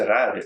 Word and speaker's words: cerrar: That's not how you say it. You're supposed to say cerrar."